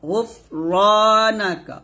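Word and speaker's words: غُفْرَانَكَ: না কাফ জবর কা গুফ র না কা গুফ র গুফ, এরকম হবে না কিন্তু, বাতাস বের করবেন তবে কলকলা করবেন না, গুফ এরকম গুফ র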